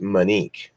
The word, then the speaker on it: Monique: thank you appreciate it monique is my middle name but it's pronounced money k-- like your Indian tribe